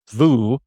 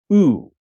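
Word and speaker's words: וּ: It's you pronounce this not vu, but as the shurik, ooh.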